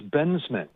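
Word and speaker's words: Bensman: i'm going to screw it up sure it's bensmid todd benson okay benjamin forgive me it's easy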